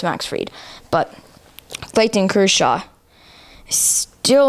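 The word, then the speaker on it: Fried: hears you call him Max Fred well I didn't know his name I didn't know how to pronounce it Max is it Max freed yeah okay so it's Max freed but fighting Cruise Shaw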